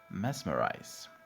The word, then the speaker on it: mesmerize: just be aware that we have the word the letter s however we say mesmerize both s and z are pronounced as z in this word mesmerize to flatter to say